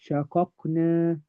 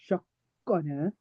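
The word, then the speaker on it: شققنا: Shaqaqna, shaqaqna. We don't say shaqqana. Doesn't work because the fatha is on the first letter, the first qaf. So the first qaf is only pronounced independently. The second one also pronounced independently. There's no merging.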